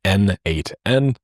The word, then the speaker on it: n8n: It was written by the creator himself and he says that it means nodemation and it is pronounced as N8N.